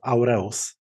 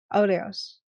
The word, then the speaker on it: Aureus: It's word from Latin, and I just use Polish tradition of pronouncing Latin words. So okay. I don't expect anyone to know how this sounds. And I call myself Aureus. Aureus? Aureus.